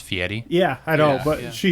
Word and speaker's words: Fieri: as my wife called him the other day, Guy Ferrari. Guy Ferrari. Diners, drive-in, dives. You know, it's actually pronounced Fieri.